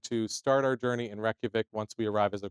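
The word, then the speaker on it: Reykjavík: Instead, if you see us do this, Reykjavik. one of our producers will be inserting the right pronunciation for us.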